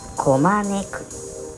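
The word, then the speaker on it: 拱く: 正解はこまねく。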